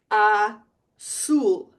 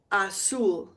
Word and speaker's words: azul: How do you think you pronounce a U in Spanish? U. Ooh, not you, but ooh. And I represent it in my pronunciation keys with a double O.